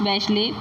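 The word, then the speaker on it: Bachelet: यहाँ पे एयरफोर्स जो होते हैं उसके ऑफिसर होते हैं एल्बर्टो, जनरल होते हैं Alberto बैशले, it's pronounce बैशले, Alberto बैशले ऑफ the Chilean air force and many other officers who refuse to join the corp.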